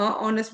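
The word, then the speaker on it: honest: ये गलत होगा क्योंकि यहां पे एच का जो साउंड है वो साउंड है वो थोड़ा साइलेंट होके ओ का साउंड आता है तो ऑनेस्ट आता है ओ का साउंड आता है तो ऑनेस्ट होता है तो ये कुछ हमारे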